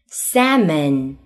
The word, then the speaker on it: salmon: Number five, AL 紧跟着 FMK, L 不发音。Half, salmon, walk.